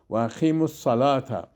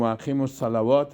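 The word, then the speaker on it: وأقيموا الصلاة: تلفظ میکنیم تیزر تا و اقیموا الصلاة اینجا نمیگیم و اقیموا الصلوات غلط میشه صلوات جمع صلات است بازو جمع میشه بازو غلط میشه و اقیموا الصلاة و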